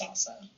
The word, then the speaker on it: SLSA: salsa misspelled SL LSA although it is pronounced salsa but it doesn't go